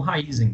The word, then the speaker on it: Raízen: na raize Tá bom é só falar raizen raiz em Raízen já ouviu um pouco de tudo Tá mas eu conheço a pronúncia como raiz em Tá bom então aí